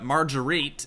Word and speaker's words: Marguerite: Basically just talking about how he had, Marguerite is actually how you pronounce her name.